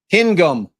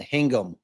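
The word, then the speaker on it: Hingham: No, I I pronounced it hanging. That is it. Hingum. He's saying hingum. Oh, stop. Hingum. Hingum. Hingum. Bob, move on. Somebody said to do it with a lazy tongue.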